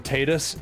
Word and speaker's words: Tidus: I I don't care that they call him Tetus. Titus sounds way cooler, and that's why I call him that, so I don't care.